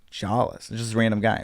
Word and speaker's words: Jolles: And I was like, "Jolles."